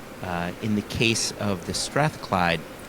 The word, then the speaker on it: Strathclyde: Strathclyde? Yeah. No, oh, the 18-year-old, not the Yeah. 16, the 18-year-old. Yeah, no, you nailed it. Strathclyde.